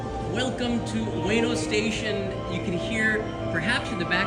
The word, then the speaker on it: Ueno: In this episode, we're going to be leaving from here at Ueno. It's actually pronounced Ueno, but in English they do it Ueno.